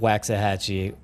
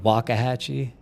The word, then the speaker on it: Waxahachie: We pronounce it Waxahachie, and everybody in Waxahachie hates it, and the surrounding area. I know there's a correct way to say it, but somebody in chat will, I'm sure, let me know.